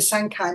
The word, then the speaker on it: Sancai: So our next presentation is, Howard, am I pronouncing it right when I say the Sancai Methodology?